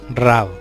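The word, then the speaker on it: רעב: Hambruna es deletreada como Resh Hashin Beit y es pronunciada Rab.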